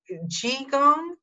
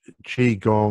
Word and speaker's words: qigong: pronounce what you do chi gong chi gong it's spelt q-i-g-o-n-g and it's pronounced chi gong or chi-gong and what